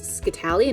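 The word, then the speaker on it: scytale: So one of the first clues that they're going to find is something called a ASCII Tally. It looks like it's spelled Skytail, but it's ASCII Tally, and it's an Italian puzzle.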